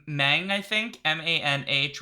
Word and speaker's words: Manh: Manh, which I think is pronounced something like Mang. Yeah. Mang.